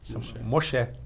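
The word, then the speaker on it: משה: converteu né nome dele é a Moisés se pronunciava Malcher Moxé Moxé né eu vou uma experiência muito legal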